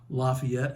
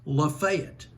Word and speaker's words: Lafayette: Regional pronunciations for example I'm from Georgia where Lafayette is pronounced Lafayette in Kentucky Versailles pronounced Versailles and in the Cibola National Forest the locals pronounce it Cibola help your narrator out